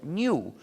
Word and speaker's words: GNU: No obstante, cuando hablas castellano, puedes pronunciarlo new, como si comenzara por ñ, lo que es también el nombre del mismo animal. Me dicen que pronunciar GNU es difícil para ustedes.